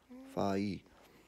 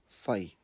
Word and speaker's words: whai: Ma nga fai. Now the last part there, the W-H-A-I, it's like a fai, as in you're almost saying, what's the easiest way to explain that? Fai. Yep, just say fai.